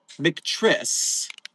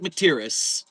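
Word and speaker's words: McTierney: I always thought the name was McTriss. Oh, no, I've just been saying it wrong the whole time. It's Kate McTierris. Gotcha.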